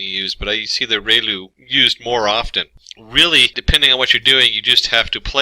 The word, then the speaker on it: ReLU: function we have the relu it's pronounced like re the from the sun and liu like a name so relu function and